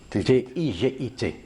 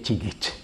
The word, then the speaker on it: Tigit: et son nom c'est il est écrit ttigit t I g i t ouais mais la prononciation c'est tigit tigit voilà et là nous avons